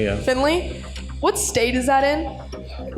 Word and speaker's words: Findlay: Findlay, yeah. Findlay.